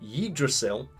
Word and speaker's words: Yggdrasil: When promised limitless power by a mental avatar of the divine magic of the Yggdrasil, thanks God of War for helping me pronounce that word properly.